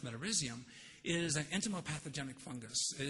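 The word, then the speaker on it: Metarhizium: this fungus that they recommended called metarisium otherwise pronounced metarisium is an enimopathogenic fungus.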